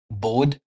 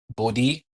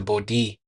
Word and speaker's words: Bode: we should always correct anyone who calls it bod plots because the person Bodhi studied at the Ohio State he made such